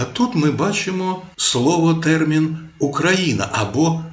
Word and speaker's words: Україна: Шевченка, де вказували, що вимоволо залежить від того, на яку літеру закінчується попереднє слово. Якщо на голосну, то українці промовляли вкраїна, на вкраїну. А якщо на приголосну, наприклад, з, то писали з України.